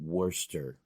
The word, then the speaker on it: Worcester: Worcester of Worcester Worcester it's basically you're saying Worster what wish did trust